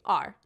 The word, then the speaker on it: are: it where you are it starts with an a and then there comes an r and don't forget the e he's as silent as can be let's spell it a